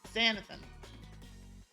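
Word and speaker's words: xanthan: How's it pronounced? Sexium? Saxium? Wait, Xanathan. Xanathan.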